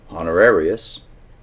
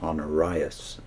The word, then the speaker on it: Honorius: the Lima to this Pope honorarius I think that would be better pronounced honorias so it's h-o-n-o-r-i-u-s yes on Arias or honorrhea to whom sergius had written